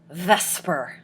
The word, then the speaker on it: VSEPR: And the good is vesper as it is pronounced. Um, vesper will allow us to predict the shape.